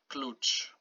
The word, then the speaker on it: klucz: So whenever you see C and the Z after it, so you pronounce it ch, okay? Like in English, ch. T and ch. So example here, klucz.